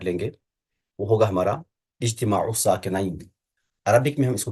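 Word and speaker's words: اجتماع الساكنين: ہم جو آج ٹاپک پڑھ لیں گے وہ ہوگا ہمارا اجتماع الساکنین. عربک میں ہم اس کو کہیں گے اجتماع الساکنین، اور فارسی اردو میں ہم پڑھ لیتے ہیں اجتماع ساکنین، اس طرح سے پڑھ لیتے ہیں ہم.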